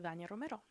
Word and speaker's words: Dania Romero: I'm gonna say Dania Romero.